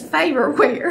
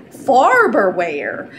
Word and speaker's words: Farberware: are cracking up because we've always called this faberwear and it's actually spelled farberware we've been saying it wrong our whole life anyway we got this